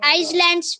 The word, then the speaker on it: islands: inhabitants of the islands were the aboriginal Islands. It is not islands. Islands. S is silent there.